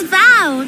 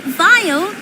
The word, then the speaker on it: Val: It's Val, not Vile. That's how you say it.